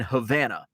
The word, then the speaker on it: Havana: a wrong turn in Havana uh which actually is pronounced and spelled the same as Havana Cuba uh I took a wrong turn in Havana I was supposed to